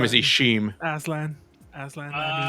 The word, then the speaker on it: Aslan: Mind if I call you Arslan? Mr. My name is Arslan. Ishim. Aslan. Aslan. I mean, How do you spell that?